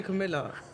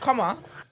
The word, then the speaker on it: Kamala: see how we say Camilla. Oh, no. I don't say Camilla. I learned how to say it. I've been saying it properly. Oh, is it Yeah, Kamala? it's like Kamala.